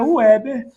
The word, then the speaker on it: Heber: mas então vamos lá o nome dele é ueber a pronúncia é ueber tá não é Weber ou ueber vamos lá então Weber